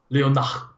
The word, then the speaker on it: Leonard: This is not like, my name is not spelled Leonard and then pronounced Leo. It's actually Leonard in French, English.